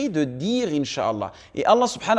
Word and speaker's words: inch'Allah: regretter quoi qu'il arrive on prononce inch'Allah et non pas une Charal car cela change totalement la signification chat veut dire se propager en arabe donc faites attention et